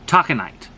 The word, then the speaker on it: Taconite: uh taco night or taconite it's spelt uh let's see t o c t o t a c o n i t e like taco nine like you know taco tuesday talking night it's a deep deep